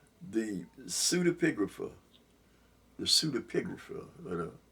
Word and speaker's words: pseudepigrapha: The pseudepigrapha. I'm going to say it that way because it seemed like it's easy to say it that way. But it's spelled P-S-E-U-D-A, pigrapha, P-I-G-R-A-P-H-A, the pseudepigrapha.